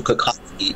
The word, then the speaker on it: Kokocki: It should be Kokocki, or Kokocki is the Polish pronunciation. So my family says Kokocki. We've been in Canada since the 1900s, early 1900s. So that was interesting. So Kokocki would be the proper pronunciation of my name.